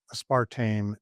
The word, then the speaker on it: aspartame: good data showing that a spartame is bad. And Spartame has two pronunciations, but I call it a spartame and the other I can't even remember what the other aspartame.